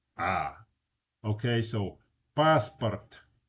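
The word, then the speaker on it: паспорт: The first A is stressed. The second vowel, the O is not stressed. When an O is not stressed, it's pronounced ah. Okay? So, passport. It's not passport.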